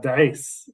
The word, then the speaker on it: D'eis: Yeah, D'eis.